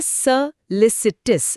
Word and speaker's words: solicitous: उच्चारण है सोलिसिटस।